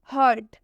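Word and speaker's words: hurt: आर आया हुआ है रूल के हिसाब से जब भी यू के बाद आ रहा है तो यू का उच्चारण अ से करेंगे यानी कि जब ये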